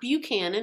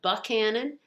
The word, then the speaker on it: Buckhannon: a place called buckhan buckhannon not buchanan it looks like buchanan but they pronounce it buckhannon and then we've pulled